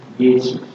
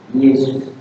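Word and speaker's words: Ἰησοῦς: Dibaca bagaimana kalau aksennya di belakang? Yesus. Yesus atau Yesus. Yesus atau Yesus. Yesus. Yesus. Yesus. Yesus. Yesus. Naik ya, naik. Yesus.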